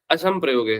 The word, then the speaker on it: असंप्रयोगे: संप्रयोगे नहीं है यहाँ पे, असंप्रयोगे है। क्या बोलोगे? असंप्रयोगे। अगर स्विषय संप्रयोगे बोलोगे तो अर्थ का अनर्थ हो जाएगा बाबू भैया। स्विषय असंप्रयोगे बोलना। ठीक है, जब भी प्रोनाउंस करना तो असंप्रयोगे बोलो।